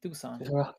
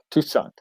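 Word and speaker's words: Toussaint: so it's like Tucson that's his name that's how you pronounce his name tucon tucon so like seeing that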